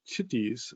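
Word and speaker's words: tithi: um um and then the lunar days which are called chitties um and the age is silent um um and some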